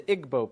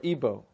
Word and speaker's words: Igbo: You have the Igbo people or Ibo, pronounced either way.